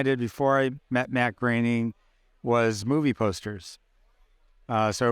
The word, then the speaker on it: Groening: it Matt Groening or Groening? Groening. I just want to make sure I got his name right. He always says his name rhymes with complaining.